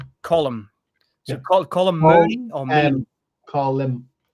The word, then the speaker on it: Colm: But we're talking about column. So it's called Meanie. Is that Am I pronouncing Colum Colum? Colum or Colm.